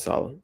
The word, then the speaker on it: Salah: Yeah, Mohamd Salah.